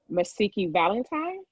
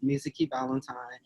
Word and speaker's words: Mizuki Valentine: a mistake again with the pronunciation message valentine did i even get close that was actually perfect hi everybody my name is mizuki valentine and i am running